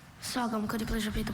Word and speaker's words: sagum: Are there any alternate pronunciations? Just sou. Sum.